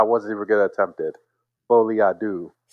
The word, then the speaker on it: Folie à deux: Folie à deux. I've been saying à la deux all day.